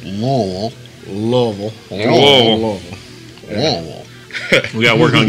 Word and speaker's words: Louisville: It's pronounced Lowell.